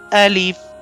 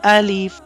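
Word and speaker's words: ألف: read this letter as Alif, Alif like that. The second thing we discussed the point of pronunciation of this letter. So the point of pronunciation of this letter is emptiness of the mouth.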